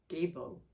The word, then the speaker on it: Gebo: Pronunciation is Gebo.